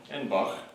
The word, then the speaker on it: Edinburgh: We are at the Edinburgh Manor, as it is pronounced. Edinburgh.